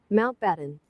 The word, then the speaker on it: Mountbatten: But apparently this is how you pronounce it. Mount Batten.